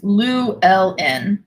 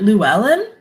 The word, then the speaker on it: Llewellyn: Oh, it's Welsh. No wonder I don't know how to pronounce it. It's Llewellyn. Llewellyn? Is that right? It's backwards, I know. Is it Llewellyn?